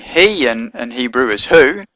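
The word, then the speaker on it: היא: heric at the bottom so you know to pronounce it he and not who so you have to look at the dots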